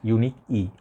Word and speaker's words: Unique'e: i think this fragrance the house they pronounce that unique e okay unique is house